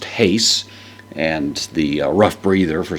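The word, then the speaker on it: εἷς: it's the adjective that means one so it's pronounced Haise and the rough breather for some reason is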